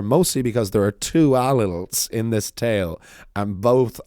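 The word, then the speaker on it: Ailill: Sometimes he is described as Allil, beg your pardon, Allil spelled like O-I-L-L-I and O-I-L-I-L-L, as opposed to Allil, which is A-I-L-I-L-L.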